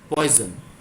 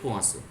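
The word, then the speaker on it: Poisson: 500 originally অনেকে এটাকে বলে পয়জন, কিন্তু এটা পয়জন নয়, উচ্চারণটা হচ্ছে পোয়াশো।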